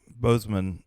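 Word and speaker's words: Boseman: yes sir uh chadwick bozeman is it bozo under boston that's bozeman okay so make sure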